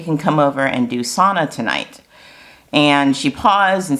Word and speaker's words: sauna: And she took my chin, no kidding, guys, and she said, repeat after me. And she said, sauna. She's like, that's the correct way to say it.